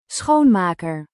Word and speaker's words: Schoonmaker: on Monday, we're going to look up the pronunciation in Dutch. Getting translation. I don't know if you're going to hear this. Schoonmaker.